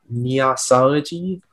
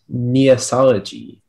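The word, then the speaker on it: neossology: 134 your word is neosology neosology may have off the information please you may neosology also neasology is a noun which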